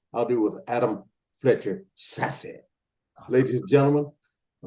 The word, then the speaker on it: Sasse: Is that correct pronunciation, Sasse?